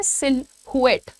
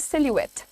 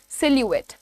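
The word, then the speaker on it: silhouette: वो कहते हैं सिलुएट। सिलुएट। The pronunciation is सिलुएट। How will you pronounce it? से it with me? इट इज़ सिलुएट।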